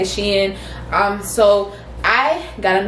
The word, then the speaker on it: SHEIN: another triangle from sheehan she in sheen however you want to pronounce it i say she in um so i got